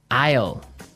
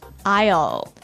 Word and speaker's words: aisle: our second word now Isle Isle a i s l e Isle Isle it's a tricky word it sounds like the contraction of I will yeah but it's spelled